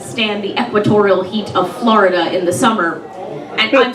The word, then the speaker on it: Florida: Um, and she's come up probably because she can't stand the equatorial heat of Florida in the summer. And I'm sorry, no, it's it's Florida. Two syllables. Florida.